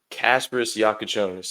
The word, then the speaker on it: Kasparas Jakučionis: Casper Yakonis. I feel like I mean I'm not the pronunciation guy, but I just I feel like